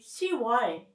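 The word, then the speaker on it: 시월: 10 is 10, so it should be 10월 technically. But again, it is a little bit hard to pronounce, so Korean remove pi읍 and you say 10월.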